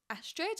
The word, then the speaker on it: Astrid: Whenever I say my name's Astrid, everyone's like, "Astrid?" I'm like, "It's like asteroid, but Astrid."